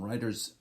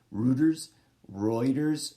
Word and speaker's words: Reuters: Quote from the website, if you are using content from Reuters, right, I just said it wrong, Reuters service as source of facts, figures, statements, quotes,